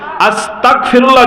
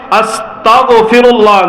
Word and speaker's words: আস্তাগফিরুল্লাহ: আস্তাগফিরুল্লাহ যদি পড়ি, তাহলে আমার এই অর্থ হবে, ওগো আল্লাহ আপনি আমাকে কাফের বানিয়ে দেন, নাউযুবিল্লাহ। তাহলে আস্তাগফিরুল্লাহ পড়া যাবে না, কি বলতে হবে? আস্তাগফিরুল্লাহ, গয়ন উচ্চারণ করতে হবে, গ আস্তাগফিরুল্লাহ পড়তে হবে।